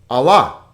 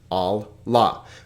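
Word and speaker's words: ἀλλά: here the final one allah allah notice two vowels two syllables and when we have a double letter we always divide in between the double letter all la but again it doesn't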